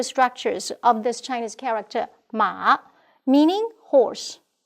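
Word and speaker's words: 马: We may take a look at the changes of the physical structures of this Chinese character, Ma, meaning horse, pronounced as Ma.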